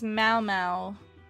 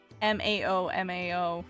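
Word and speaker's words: Maomao: Uh, it is Malmau like mao mao from apothecary diaries.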